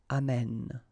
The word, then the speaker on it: amène: And then it will change, of course, the pronunciation, because you will have this e sound open, amène, okay?